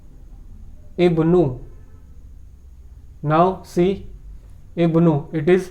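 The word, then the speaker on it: ابن: It won't be vomited while pronunciation. In the previous sentence, it was vomited while reading the sentence because Ibnun occurred in the middle of the sentence, not at the beginning.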